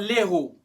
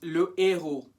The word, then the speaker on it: le héros: This one, le héros or l'héros? 5 seconds. It's le héros.